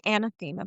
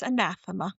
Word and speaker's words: anathema: It's a thick one, too, cuz uh cuz I always say anathema, but it's anathema.